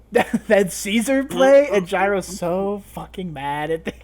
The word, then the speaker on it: Caesar: pronounced differently because uh gyro pronounces it as like in Italian or Latin I'm pretty sure not so it'd be Kaiser um yeah it'd be